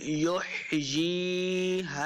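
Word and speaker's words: يحيى: گے، قل قل یحیی، ہا کو تلفظ کے ساتھ پڑھنا ہے، اس کو نہ ہی خا پڑھنا ہے نہ ہا پڑھنا ہے، بلکہ ہا کا سائن ہے تو ہا کے تلفظ کی آواز آنی چاہیے۔ یحیی، یا زے یا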